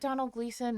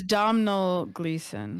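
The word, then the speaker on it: Domhnall Gleeson: Rachel McAdams yes um is it Donald gleon no it's I don't know his name it's spelled something all different oh it's domel gleon yeah okay so um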